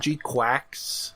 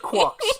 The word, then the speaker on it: GQuuuuuuX: I prefer calling it G Quax. Well, that's not how they pronounce it in the movie. It's supposed to be Quucks.